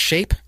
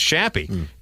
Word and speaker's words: Shappy: It's not pronounced Shape? No, it's Shappy. S-H-A... Because that should be the name of the club.